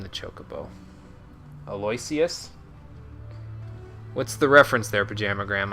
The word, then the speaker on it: Aloysius: Or Aloysius? Okay, that's how you pronounce it. I pronounced it Aloysius, which is totally not correct at all.